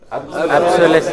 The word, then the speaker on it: obsolescence: Obsolescence. Engineers always talk about this. What is it? Obsolescence. No, it is obsolescence.